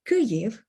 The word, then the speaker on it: Kyiv: ultimately coming back to how you'd like to pronounce the word kuryev is rather simple and i'll make it again